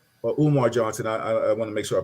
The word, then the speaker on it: Umar Johnson: I'm not going to, I'll say his name, Omar Johnson. He said, or Umar Johnson, I want to make sure I pronounce his name properly.